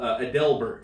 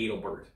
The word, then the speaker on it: Adelbert: and stuff too um the Civ War General adelbert adelbert instead of or adelbert names no it's adelbert names and if you're from Maine that makes perfect sense but if you're a historian reading a book or you know in a documentary you're going to say Adalbert yeah so there's all